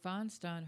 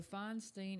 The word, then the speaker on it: Feinstein: Okay, so Feinstein, is it Feinstein or Feinstein? Some people say I call her Feinstein. Is that because it rhymes with Frankenstein?